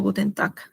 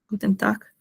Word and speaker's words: Guten Tag: bien que les mencioné que cuando la G termina, o sea, está al final y al costado hay una A, una E, una O, se pronuncia como una K. Es como Guten Tag, ¿no?